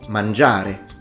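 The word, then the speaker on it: mangiare: this characteristics we say manjare dormire so you can notice that there is a pretty systematic stress on the penultimate vowel we don't say so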